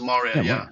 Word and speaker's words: Mourya: I pronounce it as Mourya, like Mourya. And again, the spelling has a M-O-U.